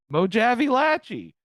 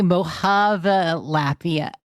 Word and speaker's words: Mojapalachia: I didn't know how to pronounce it. Mojave Latchy. It's apparently Mohapalachia.